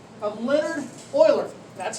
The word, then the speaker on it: Euler: the name of leonard euler that's how you pronounce it e-u-l-e-r's euler i like the houston oilers he's a famous mathematician